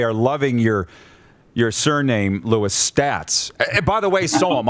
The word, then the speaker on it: Staats: Well, I always correct everybody, Rod, and tell them that I pronounce it Staats, so that keeps me away from that conversation.